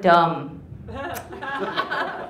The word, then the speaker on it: dumb: It's like lamb or thumb. He's like, no, you call people dummy. You don't call people lammy or thummy. I was like, yeah, you're right. It's like, no, Dad, the B is silent.